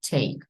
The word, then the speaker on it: take: take брати чи прочитання остання нема і не читається але ось ця голосна попередня читається як е тому виходить take Я візьму на це